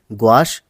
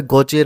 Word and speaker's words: gouache: तो हम यहाँ पे गौचे रंग इसलिए कह रहे हैं इसको क्योंकि ये फ्रांसीसी शब्द है, और किसी भी टेक्निक को अगर आप उसका प्रोनाउंसिएशन अच्छे से करते हैं, सही ढंग से करते हैं, तो आप जो है उस टेक्निक को भी अच्छे से समझते हैं। तो यहाँ पर हम ग्वाश और गौचे दोनों का ही प्रयोग कर रहे हैं।